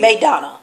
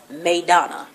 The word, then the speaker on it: Maidana: gets his fight after beating Madonna Madonna because Floyd can't pronounce it it's Maidana whatever Marcos that's what I'm